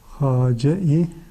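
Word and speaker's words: خواجه: hacin Yazılımı biraz farklı hace-i dana Evet bizim Türkçede Hoca diye Kullanmış olduğumuz kelimenin Aslı farsçadır ve bu şekilde yazılır arkadaşlar Normalde Hace diye okunur fakat bir galat olarak biz bunu hocaya çevirmiş Aslı hacir Evet hace-i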